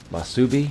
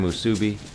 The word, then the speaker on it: Musubi: Java's favorite food combo, the odd food combo, Spam Masubi? Is that how you say it? Oh, you even Musubi. You even spelled it out for me in parentheses. Spam Musubi.